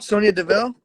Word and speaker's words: Sonya Deville: I'm trying to think of how to pronounce her name, but Oh, Sonya Deville?